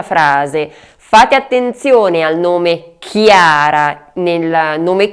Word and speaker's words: Chiara: Fate attenzione al nome Chiara. Nel nome Chiara c'è il suono chi che si scrive CHI e invece sia in